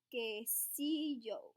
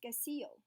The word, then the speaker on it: Quesillo: Quesillo, I said, sounding out the word. Flora and Fabiola nodded approvingly. It's pronounced Quesillo, said Fabiola.